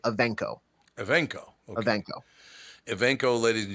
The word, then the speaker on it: Evancho: Art was saying the A in the middle sounds like an E. So like Evancho.